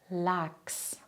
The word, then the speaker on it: Lachs: Wenn nach dem CH ein S kommt, passiert etwas Wichtiges. Das CH spricht man dann nicht mehr wie gewohnt, stattdessen klingt es wie X. X.